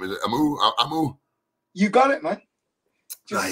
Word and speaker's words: Amoo: um is it um i appreciate your hard pronounce the last name is amu you got it man just say how it's